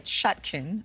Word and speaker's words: Chutkan: But the judge in this case is an Obama appointee, Tanya Chutkan, I believe is how you pronounce her name.